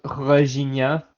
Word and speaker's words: Regina: by our nonsense jokes on Regina it's pronounced reia thank you very much